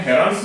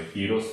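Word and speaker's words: Heron's: हेरन्स formula करके भी बोलते हैं, हेरन्स फॉर्मूला करके बोलते हैं, एन को साइलेंट यूज करते हुए हीरोस फॉर्मूला करके भी बोल सकते हैं अपन।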